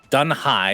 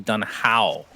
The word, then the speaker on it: Dun Hao: They don't really have arrow or anything crazy to work with, but I did get a tweet saying the correct pronunciation of Dun Hai is actually Dun Hao, Synderin.